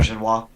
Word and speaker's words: Auberjonois: before he died, Rene Auberjonois. Is that how you pronounce his name? I'm not sure. Auberjonois.